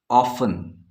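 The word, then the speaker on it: often: ये साइलेंट हो गया ऑफ स्पेलिंग पर ध्यान देंगे ओ एफ टी ई एन टी का साउंड जो कि टा बनाता है ऑफ हमने नहीं सुना इसका मतलब टी यहां पे साइलेंट है नो अगेन हम देख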